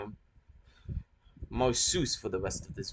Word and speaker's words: Marcus: The C in Marsus, as I've said before, is pronounced as an S and the U is pronounced as an O, meaning Marsus.